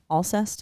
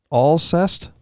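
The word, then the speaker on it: Alcest: like that what yeah what'd you say all zest is that how you pronounce her name I don't know have you heard that it is all zest a-a-l-c-e-s-t yeah okay uh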